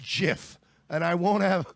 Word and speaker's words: GIF: ] nothin you all it's pronounced jiff and I won't to